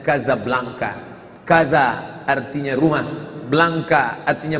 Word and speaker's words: Casablanca: Tulisannya Casablanca, cara membacanya Casablanca.